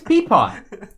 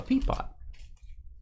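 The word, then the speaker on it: Pepiot: I think it's peepot.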